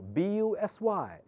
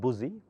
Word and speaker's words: busy: give you an example bu s y how do you pronounce that busy not buoy so you takes the sound of I okay it happens surface